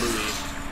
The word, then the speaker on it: Louis: birthday to your sister you pronounce it louis the s is mute the king louis uh